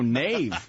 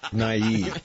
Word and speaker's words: naive: I listened I want a leader who can pronounce the word naive no Nave naive what is Nate I'm looking for someone who